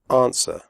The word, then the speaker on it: answer: close the door closed answer the W sound is silent answer do not say on swear women the O in